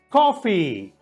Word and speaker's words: coffee: ali no final então o som é Agudo Coffee mas uma vez confie a outra vez coffee